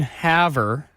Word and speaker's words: Havre: we are ten thousand up in the middle of nowhere Haver Montana I don't want her you can Haver Montana spelled like farf right it does have a French